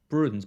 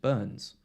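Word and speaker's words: Bruyns: has said before bro it's b-r-u-y-n-s so i call it like bruins but i think he said he's just burns or bruin burns friends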